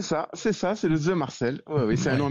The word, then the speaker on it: The Marcel: c'est ça c'est ça c'est ça c'est le the Marcel ou oui c'est un nom un petit peu